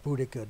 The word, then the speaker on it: Boudica: And now this great Queen Boadicea, or Boudica, depending on how you want to pronounce it, Victoria.